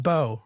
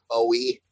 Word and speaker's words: Bowe: It's pronounced Bowe, right? The last name? Yes, sir. What's up, man? It's pronounced Bowe, yeah. Not much. People call me like Bow and Bowie, but it's Bowe.